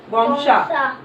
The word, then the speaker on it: Gonxha: Agnes की यहाँ spelling पढ़वानी है तो AGNES Agnes. AGNES Agnes. GONXHA गोंगशा।